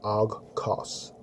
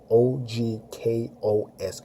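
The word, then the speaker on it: ὄγκος: That's a Greek term that it is literally pronounced ogkos. O-G-K-O-S, ogkos.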